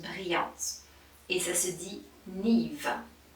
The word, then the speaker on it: Niamh: Et ça se dit Niamh. Niamh.